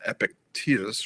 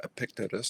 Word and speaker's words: Epictetus: There's a thing that he references many times in meditation, that he's drawing from Epictetus or Epictetus, depending on how you prefer to pronounce it.